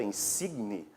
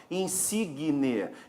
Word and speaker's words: insigne: E aqui nós temos isso, ó, esse aqui, que teríamos que dizer pela norma culta, insigne, mas quando pronunciamos, a gente vai acrescentar um som e falar algo parecido com isso aqui, ó, insigne.